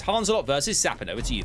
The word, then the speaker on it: Hanzelot: here apparently I'm hearing it's pronounced Hans a lot as opposed to hands a lot but Hans a lot